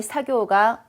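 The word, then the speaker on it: 作業: 얼핏 보기에 언뜻 봤을 때 쿠다라 사교가 오소오다가 자 쿠다라나이 시시하고네 재미없는 시시한 작업이 작업이 사교우옵니다. 발음 특이하죠 사쿠 아니고요.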